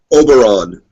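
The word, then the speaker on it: Oberyn: his uh name again Oberon like Obi-Wan but with an r in there okay I might refer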